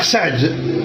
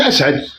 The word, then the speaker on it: أسعد: اهلا يا عزيز مرحبا شكرا اولا الاخ سعد ما كتشوفش انك ظلمتي الجزائر اولا نطق اسمي صح يا اخي لو سمحت